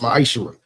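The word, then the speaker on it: מעשר: Means 10th in Hebrew and it's pronounced ma'ishra.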